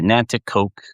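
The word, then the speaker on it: Nanticoke: And it's called Nanakoke, Pennsylvania. Nantoke, N- A T I C O K E. I could spell that because my daughters were cheer cheerleaders.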